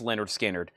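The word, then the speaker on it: Lynyrd Skynyrd: And Leonard Skinner, Pronounced Leonard Skinner.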